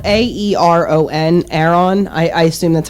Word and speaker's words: Aeron: So the first one is this Aeron chair, and it's spelled Aeron.